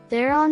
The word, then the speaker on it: Theron: huguenots in south africa thereon is an oxyton surname pronounced in afrikaans as she grew up on